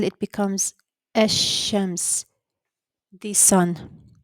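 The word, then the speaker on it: الشمس: So if you notice, I said Ash-Shams, not Al-Shams. Okay. So it's like the pronunciation of the lam is hidden, and we went directly from the hamza at the beginning to the sheen, Ash-Shams.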